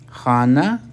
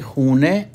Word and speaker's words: خانه: اور اگلا لفظ ہے خانہ، خانہ جس کو ایرانی خونے عام بول چال میں تلفظ کرتے ہیں، اور ویسے رسمان خانه پڑھتے ہیں اس کو۔ من در خانه